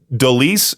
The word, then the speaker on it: Deliss: Is it Deliss? Is that how you say it?